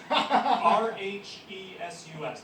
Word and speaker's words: rhesus: It's RHESUS. They're called Reese's Monkeys. Like You don't know recessive. them? Yeah. You know? Okay. It's spelled differently.